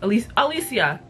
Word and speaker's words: Alicia: Alicia is how she pronounces her name.